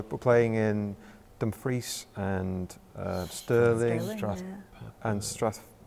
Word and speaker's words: Strathpeffer: So we're playing in Dumfries and Stirling, Strathpeffer. How do you pronounce it? Strathpeffer.